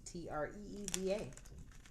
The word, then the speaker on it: Treva: My name is Treva, and it is pronounced Tree, Treeva.